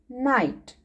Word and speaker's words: knight: h t knight kids in this word k is also silent and g h are also silent k and g h e three letters johan silent so we will read it night okay k n na